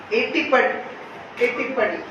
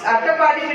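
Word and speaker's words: Attappadi: And as I was in Palakkad yesterday also, Ettipadi is the tribal area there. Attapadi, sorry, my pronunciation may be wrong. It's Attapadi, which is a tribal area there.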